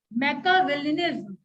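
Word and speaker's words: Machiavellianism: एन आई एस M pronounce कैसे करेंगे मेका विलम ठीक है मेका सी आई य पर आई का प्रस नहीं होता है मेका विल लराट अब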